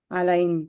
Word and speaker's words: align: Align. அலைன்ல என்ன silent? G. G is silent.